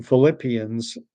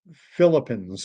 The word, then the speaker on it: Philippians: and instead of saying Philippians, said Philippines or something like that. And I mean, it was so badly done.